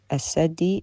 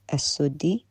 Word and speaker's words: السدي: السدي Is not as-saddi, it's as-suddi, which tells me the ignorance here, because if he knew...